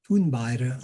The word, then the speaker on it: Thunberg: Thunberg, I believe is how you say her name in Swedish, but Thunberg.